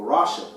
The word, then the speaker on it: rasha: You know, it's very close to Rosh, which means head.